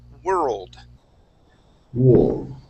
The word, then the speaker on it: world war: the on the o instead of focusing on that o we're going to make an er sound so we're going to say word world world war let's try it one